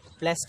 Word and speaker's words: placed: प्लेस्ड, इसलिए घबराएंगे नहीं, ये प्लेस्ड ही पढ़ा जाता है, प्रोनाउंसिएशन बाद में हम पढ़ेंगे, उसको समझेंगे।